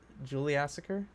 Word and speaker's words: Juliassacre: I mean, like I'm that's adding an like that extra is the two syllable. parts of it. Yeah, Yeah, true. Ju- Juliassacre.